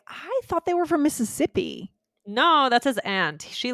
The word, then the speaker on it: Mississippi: And again, guys, when you see that, just slow down and voice every syllable. You can get it right if you just, it's not tricky in the sense that it's going to confuse you like California or Georgia at the end. Just repeat say the syllables, Mississippi, and then put it together.